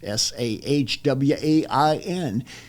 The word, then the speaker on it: Samhain: Hecate, Hecate, and Samhain, as it's pronounced in Welsh, Sahwain.